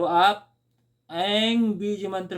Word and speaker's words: ऐं: ऐं मित्रों, जब आप ऐं बीज मंत्र का जप करेंगे तो आपके होठ जो है सटने नहीं चाहिए, खुला रहना चाहिए।